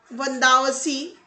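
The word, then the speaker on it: Vandavasi: ये Vendée wash या वंदावसी जो कि तमिलनाडु में है, लेकिन उसका प्रोनाउंसिएशन यूरोपियंस के जरिए वैंडी वॉश के तौर पर होता है।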